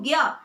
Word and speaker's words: ज्ञ: जैसे हम ज और य मिला के लिखेंगे लेकिन पढ़ेंगे इसको ज्ञ।